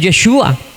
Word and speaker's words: Yeshua: nombre de Jesús es Yeshua. Bueno, no es que sea el verdadero nombre en realidad, lo que pasa es que así se pronuncia en hebreo y punto, pare de contar.